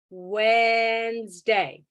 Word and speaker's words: Wednesday: Because there's, for some reason, an N in the middle of Wednesday that nobody says.